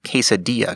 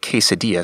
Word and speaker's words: quesadilla: is likely to hear the word quesadilla spoken aloud many times before they see it in writing so they will have already ingrained the yah pronunciation in their mind and can easily affix it to the written word when they see it